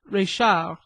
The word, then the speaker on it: Reichhardt: establishment of Madame Reichhardt, pronounced à la Française, Reichard, where I felt that